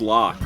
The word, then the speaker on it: Locke: His name is Locke with a silent E.